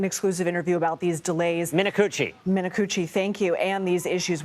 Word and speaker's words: Minicucci: You're going to have to pronounce his last name for me. In an exclusive interview about these delays. Minicucci, thank you.